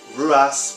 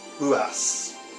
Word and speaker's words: Ruas: It's Marco Ruas. Again, the R is pronounced as an H in Brazilian Portuguese, so Ruas becomes Ruas.